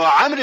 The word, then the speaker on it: عمرو: ورونو تاسو پوهیږئ چې عمر په ویلو کې درې حرفه ویل کېږي مګر په لیکلو کې څلور حرفه لیکل کېږي. په آخر کې داسې واو زیاتیږي چې تلفظ نه پکېږي او دغه واو د دې دپاره دی چې په لیکلو کې د عمر او عمر په منځ کې فرق وسي.